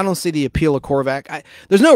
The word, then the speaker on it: Korvac: Sounds like a vacuum cleaner, doesn't it? Korvac.